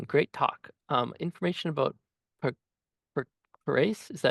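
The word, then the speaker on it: Puracé: He asks um Simone great talk um information about perase. Is that how you pronounce that? Volcano. Sorry, which one? P U R A C E.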